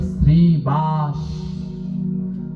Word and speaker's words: শ্রীবাস: আমি অনেকজনকে দেখেছি 100 জনের ভিতরে প্রায় 60 জন উচ্চারণে ভুল করে। ওখানে হবে শ্রীবাস।